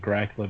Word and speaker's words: Dracul: you that the actually the name Dracula um is a uh bit of a mispronunciation of dracul son of the Dracula okay which is of